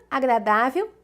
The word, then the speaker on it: agradável: Com isso, nós já chegamos na última opção, que é lágrima, agradável e provérbio. Lágrima, proparoxítona, acento na antepenúltima sílaba, o lá. Agradável, acento aqui no dá, é paroxítona terminada em L, como notável.